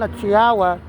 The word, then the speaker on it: Tiwa: She's a Nigerian and he was mispronouncing her name and people are noticing on the comment section. So what her name is Tuba Savage was called Tiwa.